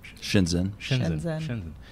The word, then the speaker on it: Shenzhen: How do you pronounce it? Shenzhen.